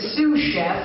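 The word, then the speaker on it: sous chef: it's called here no in in it's a sue Chef it's the assistant to the head chef it's Sue Chef you pronounce Sue Chef Sue a sue Chef Sue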